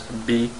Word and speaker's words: bir: This sometimes we pronounce it as B. It's completely wrong to write it that way, but we can pronounce it bir or B.